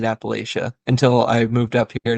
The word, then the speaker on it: Appalachia: least for this area of the country it's pronounced Appalachia not Appalachia there you go that's a big one if